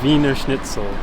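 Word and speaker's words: Wiener Schnitzel: How do I pronounce that? Venerell. Viner schnitle.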